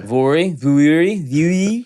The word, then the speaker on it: Vuori: Vuori. How? I'd like to hear the story behind how they named this company because I can't ever pronounce it. Go ahead. Vuori.